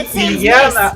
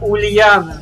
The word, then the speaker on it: Ульяна: правильно говорить не Ильяна, а Ульяна.